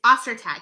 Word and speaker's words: Ostertag: I said her last name wrong. It's Ostertag.